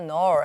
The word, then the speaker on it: knoll: there was a small knoll 하는데 영어에서는 KNGN 이렇게 N 앞에 K나 G가 나올 때는 K나 G를 읽지 않습니다. 옛날에는 읽었다가 지금은 N 앞에 나오는 K하고 G는 읽지 않는 걸로 바뀐 거예요.